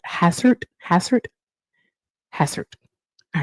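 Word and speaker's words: Hastert: Dennis Hazard. Hassert.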